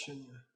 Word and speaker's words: śūnya: Es braucht jemanden, man braucht jemanden der dir sagt, welches śūnya. Es hat ein langes U, das oft zu AU wird.